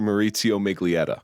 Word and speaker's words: Maurizio Miglietta: And I've had a lot of anxiety about pronouncing his name because it ends in a vowel. It's Dr. Maurizio Miglietta.